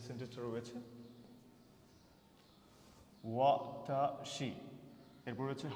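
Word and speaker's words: は: এই হা এর উচ্চারণটা যখন পার্টিকেল হিসেবে ব্যবহৃত হবে তখন সাধারণত এটার উচ্চারণ হবে ওয়া।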